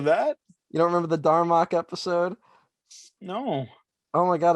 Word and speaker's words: Darmok: How do you spell it? Don Rock. No, well, Darmok.